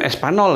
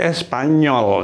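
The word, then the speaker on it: español: n-nya gitu seperti n Jadi kalau gitu ini seperti NY jadi sanyolnya ya karena ini n bukan Espanol Ini ya Bukan Espanol tapi Espanyol jadi beda kalau n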